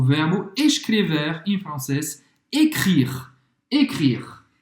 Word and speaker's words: écrire: Écrire. Écrire, novamente não pronuncia o E no final.